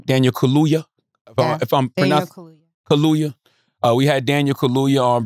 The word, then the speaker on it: Kaluuya: And then we had Daniel, how you pronounce the brother's last name? Daniel Kaluuya, Kaluuya.